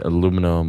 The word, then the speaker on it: aluminum: But I mean, I'm not using aluminum or silver nitrate. Aluminium. Aluminum. No, aluminum. Aluminum is aluminium. That's how they say it in England.